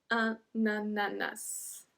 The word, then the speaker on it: ananas: Because we have to make the link between un et a, because un ends with a N and ananas start with a A, we have to say na, na, and then nananas, ananas, and then we pronounce the S as well.